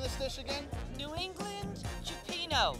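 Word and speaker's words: cioppino: the name of this dish again new england cupino cipino is how it's pronounced and you got some mussels and and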